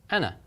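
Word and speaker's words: أنا: is just a seat this symbol Aleph it's not a long vowel the symbol of Aleph is a seat to hold up this so what we're going to pronounce is that at the noon and at Anna Anna Anna okay fabulous right now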